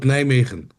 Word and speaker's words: Nijmegen: Yeah, I live between two big cities, but you can call it Nijmegen. Okay. Nijmegen. Nia, can you spell that?